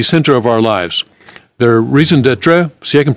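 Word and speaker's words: raison d'être: work at the center of our lives their reason d'etre see I can pronounce raison d'etre I can get close to French even but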